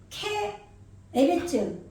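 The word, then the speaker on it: כְּאֶרֶץ: 네 , 그래서 지금 은 " 케레츠 " 라고 발음 합니다 .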